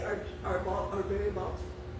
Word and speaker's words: Baltimore: say are are very Baltimore. Right. Well, besides the fact I still pronounce the T in Baltimore.